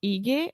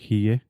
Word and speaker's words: hygge: the thing is, I was reading yesterday as well that the less amount of objects is important when you talk about Hygge, but everything that makes you comfortable and cozy, it's okay.